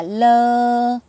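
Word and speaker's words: 乐: hạnh phúc khoai lơ thì chữ này đọc là lơ có nghĩa là vui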